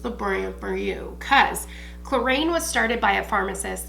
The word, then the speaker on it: Clarins: So the first brand I'm going to start with is Clarins. And I know, for those of you who know, maybe some of my François out there, French people, it's actually pronounced Clarins, but I am from Midwest Ohio.